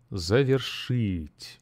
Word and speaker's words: Завершить: and the stress Falls on on the last syllable zet listen again zet that's great okay now um